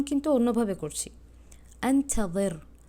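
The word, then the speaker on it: أنتظر: আপনারা দেখতেই পারবেন যে বাংলাতে আনতা জের লেখা, হ্যাঁ, কিন্তু আমি উচ্চারণ কিন্তু অন্যভাবে করছি, আনতাযির, আনতাযির মানে জবানটা একদম দাঁতের সাথে লেগে যাচ্ছে।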